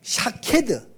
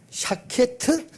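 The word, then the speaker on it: שָׁקֵד: 근데 왜 이제 아몬드 나무가 중요하냐면 아몬드 나무를 히브리 말로 샤케드. 히브리 말로 아몬드를 좀 발음이 어렵죠. 샤케드라고 이렇게 샤케트 뭐 터나 더나 뭐 샤케드인데 요 의미가 뭐냐면 흔들어 깨운다 그런 이런 뜻입니다.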